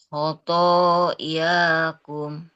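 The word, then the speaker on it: خطاياكم: khot lakum khotoyakum. Nah, Afwan sebelumnya Ibu Elin. Jadi ketika membacanya tidak apa tidak seperti ditahan. Kalau misalkan barusan kan lakum Lakum khoto yakum. Nah, jadi mengalir saja bacaannya.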